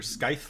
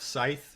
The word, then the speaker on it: Scythe: for pronouncing it correctly it is neither skyth like science nor sith like star wars so i am bryson bort i am the founder and ceo of scythe we are an around